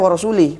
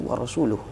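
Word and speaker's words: ورسوله: bariun Minal musyrikasul ya dia baca warasuli padahal yang benar itu warasuluh H surah Taubah ya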